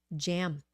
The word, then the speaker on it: jam: Okay Jam Jam okay sometimes I hear uh people pronounce the J sound almost like a z HR somewhere and there